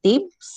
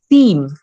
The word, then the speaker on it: Thames: It's either the ones I have heard is the first one is Thames, and then the second one is Theme, as in Theme. Right? It is this Theme River.